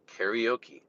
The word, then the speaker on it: karaoke: Karaoke. How do you get karaoke out of karaoke? Even phonetically spelling it is even close. Karaoke.